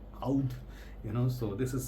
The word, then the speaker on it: oud: call it in like if you follow Middle Eastern pronunciation it will be like UD oud you know so this